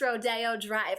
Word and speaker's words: Rodeo Drive: And yes, you guys, it is pronounced Rodeo Drive.